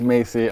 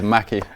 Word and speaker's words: Macee: So for everyone, I know it's spelt the way it's spelt. It looks like it's Macee. I understand that, but it is Macee.